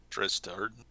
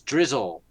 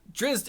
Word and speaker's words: Drizzt: That's a T. I thought it was Drizzle. Okay. All right. Drizzt. Okay. Drizzt. Duerden. Gotcha. Mm-hmm. So Drizzt is one of the